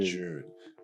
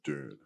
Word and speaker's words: Dune: June. If you're in Australia, you'd probably say June. Yeah, like a June wedding. Exactly, Billy Idol. But for those of you who pronounce it worldwide, it's probably pronounced Dune.